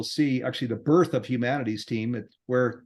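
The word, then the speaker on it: Humanity's Team: mean it's even capitalized the whole thing is pronounced exactly as Humanities team with a why so uh so Neil and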